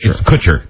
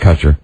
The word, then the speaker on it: Kutcher: ask ashton kutcher no it's kutch kutcher is it kutcher kutcher it's not kosher yeah you see now